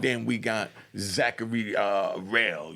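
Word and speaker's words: Rahl: we got Zachary uh rail you know I think it's spelled r-a-h-l just to pronounce it right and be proper got 10 years you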